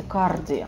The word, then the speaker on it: cardi: Пожалуйста, не читайте cardi. Да, прям вот по-русски «р» не читается. Cardi. Это такое длинное «а» с небольшим округлением.